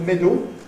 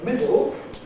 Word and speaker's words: middle: Notice that up the middle has lateral release into a dark L. That's difficult. Middle. Door. The new pronunciation with middle is much easier. And I think if you find middle difficult, rather than doing some bad approximation like middle, it's better to follow estuary English and say middle.